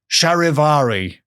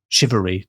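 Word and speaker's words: charivari: part of a celebration oh it's spelled sharivari but I think it's said shivery these days now I know what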